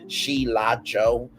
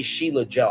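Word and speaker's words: Sheila E.: to me because um I was saying it phonetically for the longest time sheo and I butchered it so bad until you know s like that's my friend you say Sheila Joe I'm like oh okay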